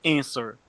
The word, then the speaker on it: answer: Mas é answer. E curioso é que o W não é pronunciado, né?